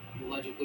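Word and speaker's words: Bogazkoy: কে ও আই ঠিক আছে এটা মনে রেখো বোগাযোগই ইন্সট্রাকশন এটা পরীক্ষায় আসে বোগাযোগই লেখোটা কি কেন গুরুত্বপূর্ণ জানো কারণ এই বোগাযোগই লেখটা পাওয়া গেছে মধ্য এশিয়াতে এবং এই বোগাযোগই লেখতে চারজন বৈদিক দেবতার নাম উল্লেখ রয়েছে চারজন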